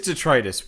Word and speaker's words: detritus: pronunciations, detritus and detritus. One Oh. is Latin, and one is right. It is detritus.